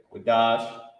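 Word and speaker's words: קדש: that means means first let me uh show you how to pronounce it okay quash this word means holy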